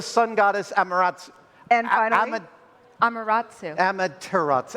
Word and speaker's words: Amaterasu: And finally, Amaterasu. Amaterasu. I missed a Whoops.